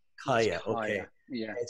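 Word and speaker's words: Kaia: can outreach is it k-a-i-a how do you pronounce that higher higher okay yeah it says knowledge so tell us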